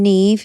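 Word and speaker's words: Niamh: the babies like that the name Neeve it's spelled like n it's n i a m b h isn't it yeah Nim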